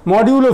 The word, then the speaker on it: মডিউলো: প্রথমে এই ফর্মের উচ্চারণ করো। না মডিউলো 4 ভুল বলেছে, মডিউলো 4 হবে, ঠিক আছে না পিয়ালে, মডিউলো 4।